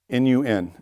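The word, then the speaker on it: נון: the same same sound the next one is nun Nu n and it's uh like in book or wood uh and n as in November so it's nun then you have samic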